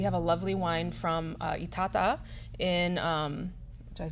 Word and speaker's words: Itata: We have a lovely wine from Itata in, did I pronounce that right? You did. Okay. Oh, Itata.